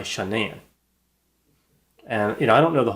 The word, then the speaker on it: Shanann: the sentencing or something, the parents called her Shannon, which is how her name is spelled, but she went by Shanann.